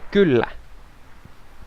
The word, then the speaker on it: kyllä: What is How do you say yes in Finnish? Kyllä? Okay, so I was saying it kind of right. Yeah, but you said Kylä, which means a village.